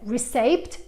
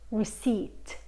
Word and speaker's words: receipt: E qui questa parola ci confonde spesso perché si scrive receipt ma si dice receipt. Receipt. La P è silenziosa, i hanno un suono I lungo.